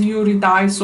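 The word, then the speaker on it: Eurydice: but maybe english um in english it's pro pronounced as eurodice or but i uh say it in the real greek form actually uh erudic eurodica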